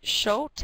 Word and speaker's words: Schott: Person that will be presenting is Hal, and I believe you say his name as Schott.